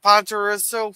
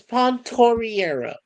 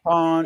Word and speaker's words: Pontoriero: Pontoriso, for coming. And that's Pontoriero. Pontero. And thank you, Pontoriero. I remember that song. Pontoriero. It's Italian. Pronounce it correctly.